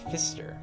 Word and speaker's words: Pfister: the rainbow fish by marcus fister and i'm assuming the p is silent this is uh another